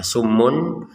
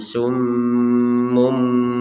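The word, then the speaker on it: صُمٌّ: sehingga ini dibacanya sudah tidak dibaca summun tapi dibaca dengan summum dengan mim dengan huruf mim sudah bukan bukan seperti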